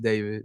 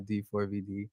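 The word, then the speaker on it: D4vd: um pronounced David, not D4 VD.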